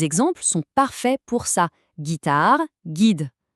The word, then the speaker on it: guitare: Guitare, guide. Sans ce fameux U, on devrait prononcer gitar et j. Le Up pour avoir le bon son.